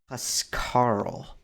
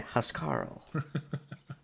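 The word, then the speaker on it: Huscarl: this one Kanan trooper ass Karl butchered that name what's right HUS Karl yeah yeah house Karl it's a great to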